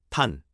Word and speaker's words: ท่าน: 탄, T로 시작하는 바언과 운이 비슷처럼 발음합니다.